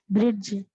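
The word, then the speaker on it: bridge: இது எது சைலெண்ட்டா இருக்கும் பிரிட்ஜ் டி டிஷ் டி தான் சைலெண்ட் right பிரிட்ஜ் டி பிரிட்ஜ் பிரிட்ஜ் பிரிட்ஜ்னு டி சொல்லக்கூடாது பிரிட்ஜ் பிரிட்ஜ்ல பேஜ் அதே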